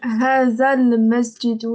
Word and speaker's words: هذا المسجد: Hazal Masjidou. Le lemme, faut le prononcer, c'est une liaison.